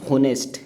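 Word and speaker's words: honest: बाद जो वर्ड है होनेस्ट ये एच साइलेंट है इसमें और ओ की आवाज आ रही है होनेस्ट तो इसका मतलब ओ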